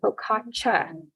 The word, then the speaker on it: focaccia: You're supposed to call it focaccia with a cha instead of sha. That's how they say it in Italy, I guess.